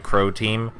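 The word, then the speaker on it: Croteam: That's how you pronounce that, right? Crow Team.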